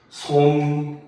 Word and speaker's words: 솜이불: 그래서 최근은 아니고 전통적으로 많이 나오던 게 솜 더하기 이불을 하게 되면 우리는 이것을 쓸 때는 솜이불이라고 씁니다. 알겠죠? 그런데 발음을 하면은 솜니불이 되죠. 그쵸?